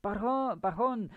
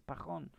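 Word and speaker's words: Pajón: I just about said Pajon because on the television here they would pronounce the name with a J, and I'm like, it's not like that. It's Pajon.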